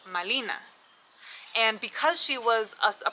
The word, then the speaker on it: Malina: And the Aztecs, when they heard the Spanish refer to her as Marina, they did not have the ability to pronounce the letter R, and they thought they were saying Malina.